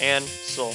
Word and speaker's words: Ansel: And it's pronounced Ansel, like cancel, but without the C.